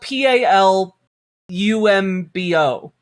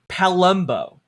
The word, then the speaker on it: Palumbo: It's spelled p a l u m b o. So, if I were to over-pronounce it, it would be Palumbo. Like like Columbo, but Palumbo.